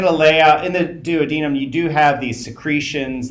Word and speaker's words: duodenum: the first uh section is either pronounce the duodenum which is how I pronounce it or the dadum which is the way some people pronounce it um and then there